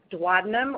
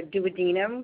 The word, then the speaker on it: duodenum: comprised three different sections duodenum or duodenum however you prefer to pronounce it jejunum and ileum then